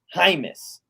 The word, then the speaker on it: Hymus: He put it very specifically that it's pronounced Hymus.